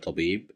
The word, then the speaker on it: طبيب: Here we have the little ta at the beginning of the word tabib, and here we have fatha that controls the sound, so that's why we'll pronounce it as ta, tabib.